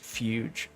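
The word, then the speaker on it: fugue: Oh wait, I know that's pronounced fuge.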